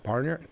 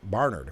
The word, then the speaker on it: Barnard: even go to Columbia it's Bernard how do you say it barard Barnard right um I just received